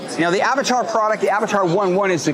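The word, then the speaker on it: Avatr 11: other companies okay now the Avatar product the Avatar one one is the correct pronunciation for this automobile this vehicle can be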